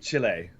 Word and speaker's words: Chile: from Chile from Chile say it right Chile and yes right right where